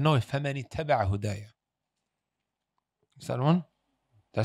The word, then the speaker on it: فَمَنِ اتَّبَعَ هُدَايَ: And he said, فَمَنْ تَبِعَ هُدَايَ. Who's the one that corrected him? A young child behind him. He said, no, فَمَنِ اتَّبَعَ هُدَايَ.